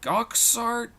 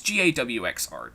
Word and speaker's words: Gawx Art: So we got Jazza, there's, I don't know how you pronounce his name, Goxart? Godjart? It's Gawx art, so, yeah.